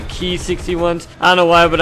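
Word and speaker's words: Ki-61: I do know that the Ki 61s are actually pronounced the key 61s I don't know why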